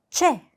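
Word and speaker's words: ч: 다음 알파벳 최 우리 치 발음과 비슷한데요. 영어의 ch 발음이 난다라고 생각하시면 조금 더 비슷하게 발음을 하실 수가 있어요.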